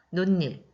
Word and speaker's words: 논일: 들어가게 되겠죠 그 다음에 논일 우리가 발음할 때 논 1이라고 발음하지 않죠 논일 앞에 있는 니은이 뒤에 있는 모음 2를 만나서 니은이 첨가가 됐네요 그래서이 친구는 첨가에 들어갑니다